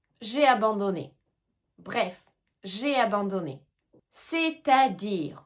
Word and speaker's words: c'est-à-dire: C'est-à-dire, on entend bien la liaison, c'est à dire, c'est-à-dire c'est-à-dire est-ce que tu l'utilises ?